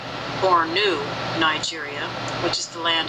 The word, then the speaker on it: Borno: Africa and just beneath these two cities as Borno pronounced Bor new Nigeria which is the land of Noah now